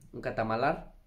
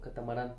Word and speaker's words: catamarán: Allá una amiga nos consiguió un catamalar. No es catamalar, ¿cómo se llama? ¡Triqui! ¿Cómo se llama esa cosa? ¿Catamalar? ¿Cómo? Catamalar. ¿Catamalar? Catamalar. ¿O catamarán?